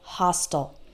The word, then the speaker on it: hostile: All of those words end in I-L-E, and I, as an American English speaker, pronounce the I-L-E like ol. Fertile, fragile, missile, versatile, hostile.